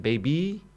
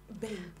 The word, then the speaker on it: Babe: So how do we pronounce it? Baby? Babe. It's still, you know, babe. When I was in Uganda, they're like, the Ugandan baby. I said, that's the Ugandan babe.